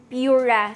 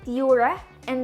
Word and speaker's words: Pura: their P series into Pura series signifying of course their start of a new chapter naming it from the word pure so yep the pronunciation is Pur and not Pura so the pur 7